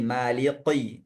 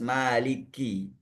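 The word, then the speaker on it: مالك: Ah, kaf di sini enggak boleh menjumkan jadi qof. Ah, ini juga lahan jali kesalahan yang nyata. Otomatis salatnya juga tidak sah. Kalau kafnya dir menjadi qof. Jadi enggak boleh jadi Maliki, tapi harus Maliki.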